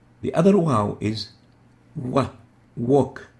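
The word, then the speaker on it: واو: both are called wow the name is wow as in wow so the name is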